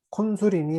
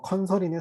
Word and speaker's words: Consul: 콘솔은 뭐 콘솔이니 뭐 컨설이니 사실 발음은 뭐 여러 가지로 하실 수 네, 있어요.